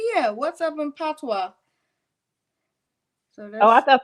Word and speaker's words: patois: That's the How do you pronounce it? Patois, you said?